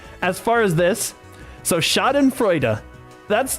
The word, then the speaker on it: Schadenfreude: The first part, Schaden, is pronounced Schaden. Okay, the second part, Freuda. Okay, so together it's Schadenfreude.